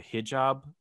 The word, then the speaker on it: hijab: I'm thinking kind of like and I don't want to get this wrong, the hijab.